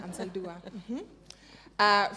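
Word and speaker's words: Anzaldúa: Okay, Gloria Ansaldúa.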